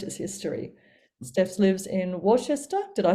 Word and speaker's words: Worcester: Steph lives in Worcester. Did I say that right? Worcestershire. Worcester. Don't worry, nobody can pronounce it.